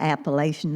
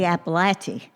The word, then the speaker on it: Appalachia: That was at the end of the Appalachian Mountains.